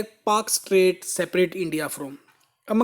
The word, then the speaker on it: Palk: तो एक पाक स्ट्रेट है भाई, ये पाकिस्तान वाला नहीं है अभी, PALK, बल्कि हम प्रोनाउंसिएशन जो है पाक करते हैं।